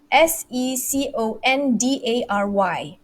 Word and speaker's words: secondary: so the word is s-e-c-o-n-d-a-r-y so i'm gonna i'm gonna use my hand my fingers okay secondary secondary okay the answer is the syllable falls on the first the first syllable the stress excuse me